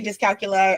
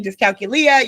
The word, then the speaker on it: dyscalculia: Because dyscalculia is and there's two ways to pronounce it. I say dyscalculia. I observed you say dyscalculia. You could say it either way to the viewers, listeners.